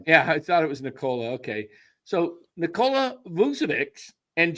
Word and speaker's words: Nikola: It's Nikola. Yeah, that's what I thought. Yeah, I thought it was Nikola.